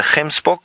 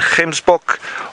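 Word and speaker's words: gemsbok: same with Springbok and hem Spock or Oryx a lot of people find him spoke the word difficult to pronounce it's a little bit like you're going to spit now Jenny you're wondering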